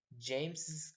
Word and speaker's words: James's: So if you say James's car, by the way, the pronunciation will always be James' car, but if you want